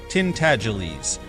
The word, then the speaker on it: Tintagelies: The name is pronounced Tintagelies, but as most people would not take the trouble to pronounce it correctly, they called him Miggs for short.